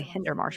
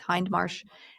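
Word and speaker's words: Hindmarsh: For some reason, I wanted to say Hinder Marsh, but there's no er there. It's Hind Marsh and John Savory in a 2008 rebuttal.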